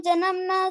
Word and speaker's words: जन्मनि: ठीक है, मम जन्मनी, जन्मने नहीं है, जन्मनी जन्मनीश्वरे।